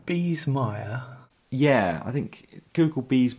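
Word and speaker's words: Biesemeyer: can't smell good so bees meyer you would have never guessed this is b i e s e m e y e r all right i need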